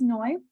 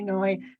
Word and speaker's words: Noi: So again, my name is Noi, short for a very long, complicated Hawaiian name. So just call me Noi. That's fine. Noi rhymes with joy is an easy way to remember that if you're new to the group.